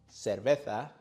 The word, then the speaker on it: cerveza: Cerveza. In most of Spain, many speakers pronounce C and Z with a sound similar to the TH.